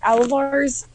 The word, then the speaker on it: Alvar: I have a feeling though because Alvar's that's how you say pronounce his name is Alvar.